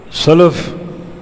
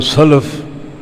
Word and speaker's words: سلف: فہم کی روشنی میں۔ سلف یہ لام کی زبر کے ساتھ، جس کا معنی گزرے ہوئے اچھے لوگ۔ یہ عربی زبان کی یہ ایک بڑی وسعت ہے۔ اگر لام زبر کے ساتھ ہو سلف تو گزرے ہوئے اچھے لوگ، اور اگر لام کی جزم کے ساتھ ہو سلف تو گزرے ہوئے برے لوگ۔ یعنی ایک حرکت کی